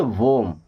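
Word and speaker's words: womb: Silent क्या पढ़ेंगे? वॉर्म।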